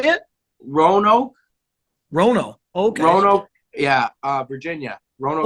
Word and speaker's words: Roanoke: Roanoke.